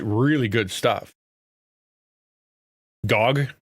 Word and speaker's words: GOG: Gogg. Yeah, there you go. Pronounced GOG.